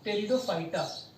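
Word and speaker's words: Pteridophyta: है, शाबाश, टेरिडो, PTERIDO, टेरिडोफाइटा। Okay, टेरिडोफाइटा, टेरिडोफाइटा, ये पी को साइलेंट पढ़ा जाता है तो टेरिडोफाइटा।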